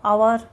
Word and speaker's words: hour: वैसे ही यहाँ पे देखिए एच से लगा है सब spelling, honest, HOUR, आवर, HONOUR, ऑनर। ठीक है, तो ये ह से प्रोनाउंस नहीं हुआ इन सब वर्ड्स के। ह से इसका उच्चारण नहीं हुआ, इसलिए इसके आगे लग गया आर्टिकल एन।